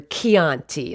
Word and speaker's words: Chianti: In Italian, the ch sound comes from CI or CE, it's chi or che, and the CH sound in Italian is a hard K sound.